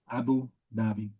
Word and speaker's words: Abu Dhabi: Abu Dhabi.